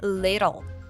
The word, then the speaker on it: little: It's all connected, and we hear that the T's are pronounced as a flap T, like da-da-da. So little is pronounced as little, and bit of a becomes bit of a.